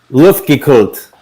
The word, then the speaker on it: Luftgekühlt: Luftgekühlt.